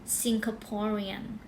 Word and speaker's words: Singaporean: คน เรา เรียก ว่า singaporean singaporean เน้น ที่ po นะ คะ singaporean นะ คะ แปล ว่า ประเทศ สิงคโปร์